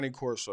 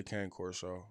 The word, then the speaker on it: Cane Corso: a Cane Corso. That's what it's. That's how you say it. But a lot of people say Cane Corso.